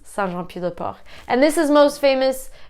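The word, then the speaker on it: Saint-Jean-Pied-de-Port: John PA de port but in French it's Santa pupae and this is most famous because this is where the French way of st.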